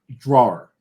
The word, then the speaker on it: drawer: In New Jersey, it's drawer. It's pretty much 1.5 syllables. And a lot of people I know don't even put the ER on the end. It's just draw.